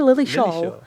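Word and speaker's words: Lilleshall: Abby Lily Shaw or Lily Shaw.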